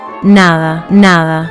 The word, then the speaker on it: nada: Here is the mechanism. Your tongue touches your upper teeth very lightly barely making contact. Then you push air through while your tongue is in that light position. It creates a soft h sound.